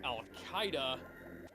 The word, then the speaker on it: Al-Qaeda: way because it's that's how it's spelled it's pronounced Al-Qaeda but yeah well hang on let's head back